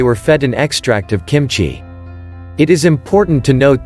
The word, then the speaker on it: kimchi: kimchi sauerkraut kefir and yogurt kimchi pronounced kim chi is a korean spicy